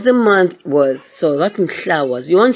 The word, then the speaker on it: Mhla: Okay, Mhla. That's another hard one to pronounce now.